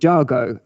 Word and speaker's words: Jago: So I'd spent some time in the southwest country, and it's actually a Cornish name, Jago. But also I'd done some work in India, and they pronounce it Jago, and it's a traditional